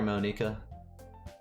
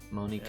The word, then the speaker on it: Monika: We call her Monika. Why? Is this the correct pronunciation? Yeah. It's like it's got a K in it, so clearly it's Japanese. It's a ka. Monika.